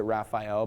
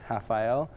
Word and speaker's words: Raphael: well we pronounce it Raphael but they don't have the r sound so it's hael um so that was